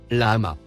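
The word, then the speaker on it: لحم: Le quatrième mot en surbrillance jaune, se prononce, lama.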